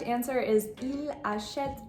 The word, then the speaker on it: achète: You'll also notice that the E at the end of achète and also at the end of costume are going to be silent as well, which brings us into